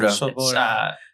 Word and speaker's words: Swoboda: So my name's Swoboda. That's how you pronounce that. Swoboda. It's Polish spelling.